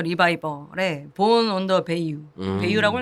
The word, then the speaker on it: Bayou: 베이유라고 읽는 거 맞죠? 네네네.